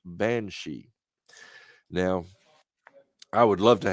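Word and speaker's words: bean sidhe: i never connected it but it is actually pronounced banshee now i would love to have him on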